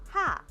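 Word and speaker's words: ห้า: And in the Thai language, the number five is uh pronounced like ha.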